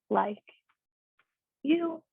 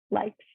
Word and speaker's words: like: you usually pronounce it but in english e sometimes can be silent at the end of words okay so we will say like not likey like it can be